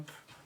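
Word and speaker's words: Caamp: ] me uh can Camp I I don't it's camp but it's spelled with two A's c a a m p a concentration camp white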